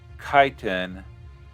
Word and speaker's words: chitin: magic it's normally pronounced kaiten but most pronounce it as it's spelled yeah kite okay it's